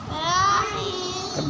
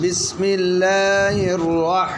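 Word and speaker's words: بسم الله الرحمن الرحيم: राही meme ज़ेर meme Rahimi रहीम अब ज़ेर साइलेंट कर दे रहीम रहीम बिस्मिल्लाहिर्रहमानिर्रहीम बिस्मिल्लाहिर्रहमानिर्रहीम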